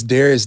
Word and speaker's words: Dharius: only name i know it's spelled this way d-h-a-r-i-u-s so it's darius on everything that's youtube